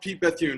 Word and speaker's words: Pete Bethune: add a lot to it um and it's pronounced pete bethune right yeah that's great okay great so pete